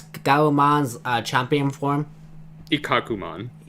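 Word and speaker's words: Ikkakumon: end with them selling on how did you pronounce Galumon's champion form? Ikakumon. Ikakumon.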